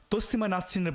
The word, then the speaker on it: তসলিমা নাসরিন: চাষী এবং দেখুন এবার তসলিমা নাসরিনের নামটি তারা কিভাবে উচ্চারণ করে আমরা খবর পাই যে তাসলিমা নাসরিনের বই পাওয়া গেছে তাসলিমা নাসরিন নয়রে মোল্লা তসলিমা নাসরিন যার বিরুদ্ধে দাঁড়িয়েছো তার